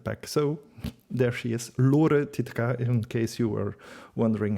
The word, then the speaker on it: Lore Titeca: So there she is, Lore Titeca, in case you were wondering how to pronounce her name.